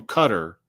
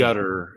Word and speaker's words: Qatar: oh, and don't call him Cutter because that rhymes with Cutter. gutter, and that's disrespectful. So it's Gutter.